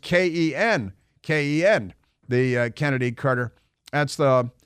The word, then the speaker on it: Chennedy: out that chennedy Carter pronounces her name Kennedy Carter even though it's spelled CH and I I was